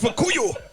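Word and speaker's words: Fukuyo: In Just 'cause Japanese I can't accent, pronounce it as Fukuyu. It's Fukuyu.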